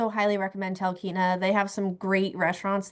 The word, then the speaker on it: Talkeetna: recommend Talkeetna.